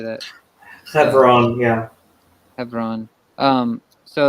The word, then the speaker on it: Hebron: Hebron, yeah. Hebron. So like in 2 Samuel chapter 3, Second Samuel chapter. starting at verse 2, it lists David's sons that were born in Hebron.